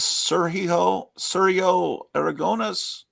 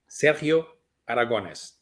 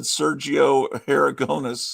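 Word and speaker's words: Sergio Aragonés: So the correct pronunciation is Sergio Aragones. Help us Sergio with it. Aragones. Say it one more time. Sergio Aragones.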